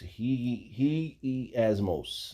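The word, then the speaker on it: ἁγιασμός: He asmos. He asmos. That's how you say it in Greek.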